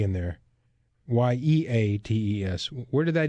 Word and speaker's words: Yeates: Something I've struggled with as a Yeates and a Yeates and all those other different pronunciations. But yes, it's Yeates.